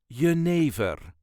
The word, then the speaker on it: jenever: it is y yver there is a very slight emphasis on the second syllable y ne ne all